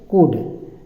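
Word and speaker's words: could: जाता है ठीक है कुड कुड सी ओ य एल डी कुड L silent रहता है कुड खाली पढ़ा जाता है तो कुड हो सकता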